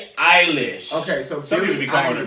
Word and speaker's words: Eilish: do you keep going i'ma need you to pronounce his girl's name right one time Billy I wish this man said Billy Irish Eilish okay so people becoming a really eyelash I'll